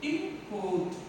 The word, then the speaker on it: import: And next thing is called import. This is the disyllabic word, this is the noun. We have to pronounce the first syllable. Import. Import, we have to stress here.